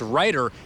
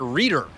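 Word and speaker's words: Reiter: Okay, but Ryder said that Chiefs quarterback Patrick Mahomes just now started calling him by his correct last name. It's Ryder and not Reader.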